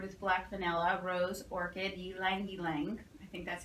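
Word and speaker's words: ylang-ylang: black vanilla, rose, orchid, ylang ylang. I think that's how you say that. Yes. Tobacco and cedar. It was always yang yang to me. Yang yang, ylang ylang. It's ylang. I'll pronounce the L.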